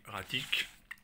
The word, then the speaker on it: E-Ratic: suite de ça alors c'est hratique évidemment je le prononce à la française hein parce que le jeu de mots a été conservé en français erratique si vous savez pas